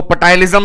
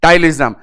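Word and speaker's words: ptyalism: हालांकि पी से शुरू होता है पर पी साइलेंट है। यदि मेरे देश के जवान पी साइलेंट ना करें तो वो पटालिज्म भी बोल सकते हैं देसी भाषा में। पर लॉजिकली पी साइलेंट होता है टाइलिज्म।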